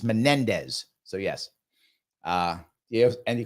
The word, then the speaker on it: Menendez: you my friend was Bob Menendez thank you not Mendes my mistake I apologize for getting his name wrong it was Menendez that's the guy with